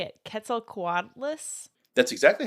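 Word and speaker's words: Quetzalcoatlus: love I don't know how to say it Ketel quadas that's exactly how you say it okay it's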